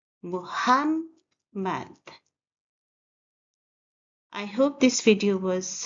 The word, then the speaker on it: Muhammad: Muhammad is a three-syllable word. The first sound is mo. We stress the second syllable, hum, and in the end, mad.